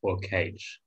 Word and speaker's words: quaich: I assume it's quaich or cage. Quaich. Yeah. Quaich. Quaich. Yes, yeah, so you need the same as a loch. It's that C-H.